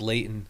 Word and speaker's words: Layton: If you're from Utah, you pronounce Layton.